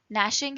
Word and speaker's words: gnashing: Sniffles was in the front, gnashing his teeth and whipping his tail around most menacingly. Gnashing, G is silent here.